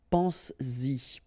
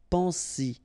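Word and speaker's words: penses-y: produce it orally, because you will pronounce it pense-y, pense-y, okay? Pense-y, all right? So you get to make this liaison.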